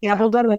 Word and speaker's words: Gabaldon: I don't know how to pronounce her name, but Gabaldon, thank you. Gabbledon.